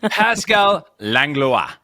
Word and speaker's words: Pascal Langlois: We have the lovely Pascal Langlois.